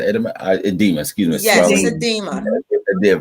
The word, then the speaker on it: edema: um the next one edema uh edema is pronounced Eda edema excuse me did right swelling of your feet